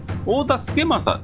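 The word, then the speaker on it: 太田資正: ファッキンこっちですね太田付正と読むそうですこれで太田資正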